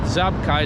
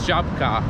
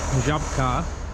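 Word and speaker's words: Żabka: So another nice thing I have here is I have a, and I found that I was saying it wrong. It's not Zabka, it's Jabka. I think that's what it is.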